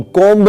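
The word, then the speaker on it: comb: कंघी को बोलते हैं कोम कोम नहीं बोलते हैं इसमें बी साइलेंट रहता है शीशा या दर्पण को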